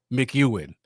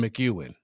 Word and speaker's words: McEwen: once every four years mcewen okay thank you for that dominic i've been pronouncing wrong quite a bit so it's sean mcewen so like i was